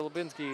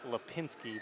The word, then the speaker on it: Lipinski: Kobe over to Lubinski. Lubinski over to Charles, who passed it back to Lubinski, who loses it. And actually, it's Lipinski, but Lubinski keeps being easier to pronounce.